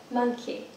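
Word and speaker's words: Monki: Monkey. Yeah, it's spelled M-O-N-K-I.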